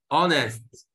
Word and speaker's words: honest: الاتش سايلنت ما بتنطقاش عشان وحشه. ستيفن honest.